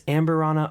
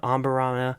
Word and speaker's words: Amburana: in ambera casks now I don't know if it's ambera omber I did a little bit of research and I heard it pronounced both ways so I think it's kind of either or but this is